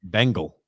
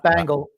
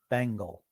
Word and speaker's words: Bengal: He says Bengal. The Bengal Tiger. The Bengal Tiger. Not Bangle. Not Bengal. Bengal.